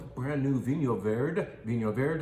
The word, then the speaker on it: Vinho Verde: Vinho Verde, yes, that's how you say it. Not necessarily Vino Verde, but if you come in and say Vino Verde, we'll know what you mean.